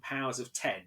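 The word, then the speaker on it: Powers of X: together and it is house of x and powers of ten although it is shown as an x but it's pronounced players of ten um jonathan hickman comes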